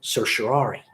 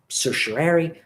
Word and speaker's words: certiorari: been lot of articles written joking about the pronunciation of this word person I go with certiorari you might go with certiorari certiorari most practitioners will simply say certain writ